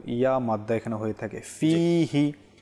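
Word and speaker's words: فيه: মাদ্দা এখানে হয়ে থাকে ফিহি ফিহি আমরা যদি দ্রুত পাঠ করে নেই আল্লাহুম্মা বারিক লানা ফিহি ওয়াজিদনা তাহলে ফিহি ফিহি নয় এখানে দ্রুত পড়া যাবে না ফিহি একটু টান দিয়ে তারপর পাঠ করতে হবে তারপর ওয়াজিদনা জিদনা জিদনা রয়েছে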